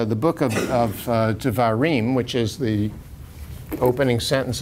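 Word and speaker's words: דברים: the book of uh devarim which is the opening sentence of the book says that these are the divarim the divarim it's pronounced like a v even though it's a b those of you know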